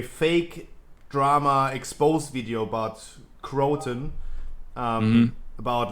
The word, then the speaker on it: Crowton: Crowton, please introduce yourself. Hi, I'm Crowton, but I pronounce it Croton. Everybody else pronounces it however they feel like.